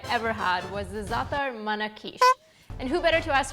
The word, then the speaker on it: Manakish: Well, we pronounce it Manakish. Manakish.